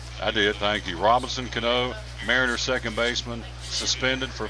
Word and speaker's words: Cano: Robinson Cano, right?